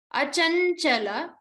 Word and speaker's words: Achanchala: Achanchala. So again the cha has to be stressed upon.